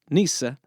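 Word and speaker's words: nyce: In The Canterbury Tales, nice, which, by the way, was originally spelled n y c e, and would have been pronounced nees-a, is used several times according to its original definition, meaning stupid or foolish.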